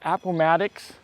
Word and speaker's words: Appomattox: We are at the Appomattox, did I say it right?